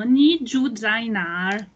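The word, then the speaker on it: 你住在哪儿: Fatto ni shina guren, adesso facciamo ni ju zainar, che significa dove abiti, dove vivi. Ni ju zainar. Si pronuncia giù, giù, zai, giù come giù, come giù, è lungo, no, ni giù, zainar, ni giù, zainar, zainar, dove abiti?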